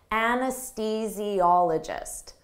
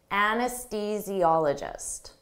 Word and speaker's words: anesthesiologist: reproductive issues an anesthesiologist don't let this spelling confuse you native speakers have difficult with the pronunciation of this anesthesiologist anesthesiologist an anesthesiologist administers anesthesia